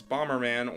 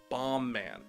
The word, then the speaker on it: Bomb Man: audience members thinks it's Bomberman or bambo man but either way it's not it's bomb man Bomberman is a character